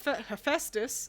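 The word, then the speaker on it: Hephaestus: that weren't aware of the fact that he hephestus is crippled and actually made himself several different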